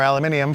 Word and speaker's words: aluminium: If we do the aluminum or aluminium for my foreign friends, which is the correct way to pronounce it over there, obviously, the aluminium will bring us down to 28 pounds, I believe.